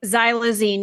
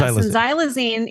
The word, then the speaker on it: xylazine: as Tran uh how was how do you pronounce this zy xylazine it is xylazine yes xylazine is actually used in the veterinary World quite